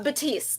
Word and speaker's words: Baptiste: have with us Baptiste did I say it correctly uh Batiste the p is silent oh very nice um